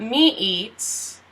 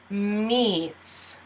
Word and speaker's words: meets: And these are pronounced as one E. So not me eats, it's meets.